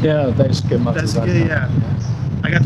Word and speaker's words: Daisuke: Is it Daisuke? Daisuke? Yeah, Daisuke Matsuzaka.